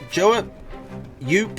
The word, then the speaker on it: Joe Yoop: Now, Joe Yoop, that rhymes with soup, is slightly ahead on Eco because of his campfire.